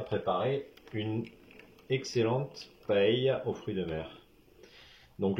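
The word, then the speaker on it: paella: vous le connaissez tous c'est euh la paille ou prononcer en français en bon français de base la PAA et bien je suis désolé la paela c'est pas une PAA c'est une paille la PAE d'ailleurs pour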